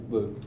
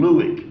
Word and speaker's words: Lueck: Luke. Spelled Lueck. Yeah, pronounced Luke, because I called him Luick for I don't know how long.